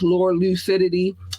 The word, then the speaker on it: LURLUCIDITY: If you would like to drop a donation, $ capital LURLUCIDITY, which means which is pronounced Lure Lucidity, lure and lucid to lure the men clearly.